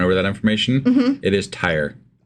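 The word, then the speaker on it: Tyre: It is tire.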